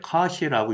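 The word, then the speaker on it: cosh: 요 하이퍼발리 코사인 같은 경우에는 이제 카시라고 읽는다라고 써 있지만 역시 들어본 적은 없고요.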